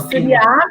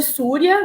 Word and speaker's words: Surya: Com a sílaba tônica no último A, né? Isso. Suriá é a forma como minha mãe batizou a escola, mas muita gente chama de Súria, né?